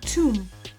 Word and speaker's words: tomb: The B is silent. Say tomb.